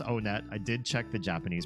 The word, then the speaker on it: Onett: One tut. Just kidding. It is pronounced on net.